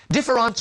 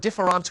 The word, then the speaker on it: différance: Well, when Derrida gives us the word différance with an A, you see, différance with an E or différance with an A are pronounced exactly the same in French.